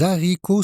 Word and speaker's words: haricots: Les haricots sont délicieux. Les haricots sont délicieux. On ne doit pas faire la liaison.